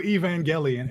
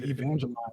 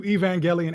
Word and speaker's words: Evangelion: Um, a new Evangelion. And I'm I'm thankful that you taught me how to finally pronounce that. I've been pronouncing as Evangeline since I was like 11. Um, a new Evangelian anime is in production